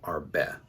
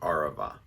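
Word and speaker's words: ערבה: the hebrew words and i kept saying arbeit instead of arava i made a mistake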